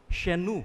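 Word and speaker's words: chez nous: When you say our home shenu no? Iyung she c h e z. Tapos yung new ano hour no shenu or kapag my home shemwa.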